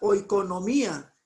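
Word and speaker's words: οἰκονομία: Aquí vemos que se pronuncia oikonomía, pero si usted ve aquí la definición de esta palabra es administración y entre paréntesis de una familia o propiedad.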